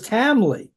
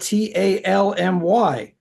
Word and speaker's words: Talmy: And I always thought his name was Tamley, but it's spelled Talmy.